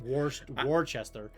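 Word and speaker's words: Worcester: And yeah, you North you New Englanders and your stupid It's pronounced Warchester.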